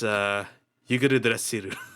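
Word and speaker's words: Yggdrasil: using the Japanese term because it's Idrixil, like the world tree in English, but then when they say it in Japanese, it's Yuguru Drasiru.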